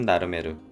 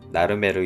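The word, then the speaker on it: Narmer: 사각형 테두리는 세렉스, 궁궐, 메기는 고대 이집트어로 나르, 끌은 메르라고 불렀습니다. 즉, 나르메르 이름을 표현하기 위해 메기와 끌을 그려놓고 그림의 음가를 빌려 발음하는 문자 체계를 만들어낸 것입니다.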